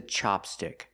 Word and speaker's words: chopstick: This is a chopstick. We use the short ah sound like hot and stop.